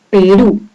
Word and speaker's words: Perú: Porque es una aguda, dado que la mayor fuerza de voz, o sea, el acento, está en la última sílaba, Perú.